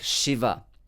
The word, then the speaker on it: Shiva: in english language uh in english sha the the sound sure corresponds to sanskrit sound sha uh in words like shiva shambhu shanti okay so that's the